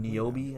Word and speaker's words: Niobe: Niobe, I think it is. Yeah, I don't know how to pronounce her name. Though. Niobe. It's Niobe and Ghost.